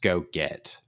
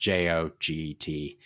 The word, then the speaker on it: Joget: Is I think it's pronounced Go Get, but it's pronounced JOGET, which is a low code solution.